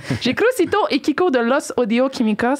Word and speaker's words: Los Audio Kimikos: J'ai Crucito et Kiko de Los Audio Químicos. Ça va-tu ma prononciation? Oui, ça va, c'est parfait, c'est parfait. Dis-le encore, Los. Los Audio Químicos?